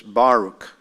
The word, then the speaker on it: Baruch: was this is Baruch I say Baruch but it's Baruch it's the emphasis on the on the first syllable says the word the